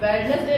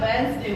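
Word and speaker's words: Wednesday: Next word लेते हैं वेडनेसडे। हम सब शुरू से यही बोलते आए हैं वेडनेसडे, लेकिन वेडनेसडे नहीं होता, वेडनेसडे होता है। वेडनेसडे इसलिए होता है जो हमारा डी है, अगर एन से पहले डी आता है तो डी साइलेंट होता है।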